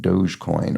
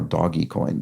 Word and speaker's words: Dogecoin: for a meme currency I write Dogecoin or doggy coin depending on how you how you choose to pronounce that um one of those